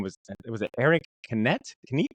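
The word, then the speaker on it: Canete: the Mandarin with his name was it Eric Canet? Canet? How do you say it? Eric Canetti.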